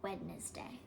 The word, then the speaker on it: Wednesday: In America, we say like Wednesday, even though it's spelled like Wednesday.